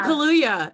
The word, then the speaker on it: Kaluuya: Hey, Daniel Kaluuya, is that right? I got one right. Daniel Kaluuya is right.